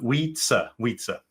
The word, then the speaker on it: Wietse: for international listeners um my name is pronounced like we like in the english uh we we we go to the park we um wheats so without that out